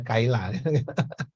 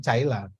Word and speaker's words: Caila: Kan anak-anak bacanya Caila bukan Kaila. Makanya kalau Kaila mending pakai K aja, jangan Caila.